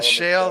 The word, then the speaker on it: Chelle: the last NC North Carolina the NC for pronounce the shell c h e l l e yeah c